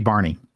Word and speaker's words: Bjarne: Yeah, it's Barney. Barney Strustrup. I did not know that. I've never heard his name pronounced.